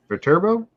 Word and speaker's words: Viterbo: Next, they head over to oh boy, Viterbo. Did I? Yes? That's the way I'd say it. But... Linda's giving me the nod, so I must have said it right.